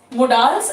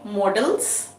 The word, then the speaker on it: modals: functions of the mudals this is mudals as we call it there are other people who say models so we can accept both the pronunciations we should know the